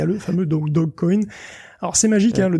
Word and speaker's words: Dogecoin: crypto Guillaume alors écoute je pense que c'est plutôt le dog coin comme le chien mal prononcé que comme un Dodge comme le doge de Venise mais ça serait marrant